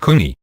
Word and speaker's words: can: Each embryo can, and does divide into 6 to 9 individual can, pronounced kuni, that is siblings.